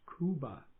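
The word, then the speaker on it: Khooba: unique symbol in aramaic is cuba it's spelled in english k-h-o-o-b-a in aramaic it's a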